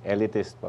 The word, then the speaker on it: Eleatist: Paano bang tamang pag-pronounce? Elitest. Elitest po.